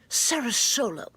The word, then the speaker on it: SaraSolo: Florida and I love Sarah solo although I thought it was pronounced differently but apparently it's pronounced Sarah solo and Sarah solo wants